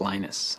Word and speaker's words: Linus: speak Finnish it's Lino's when I speak English its Linus and I really don't care how people browse my name but Linux is always Linux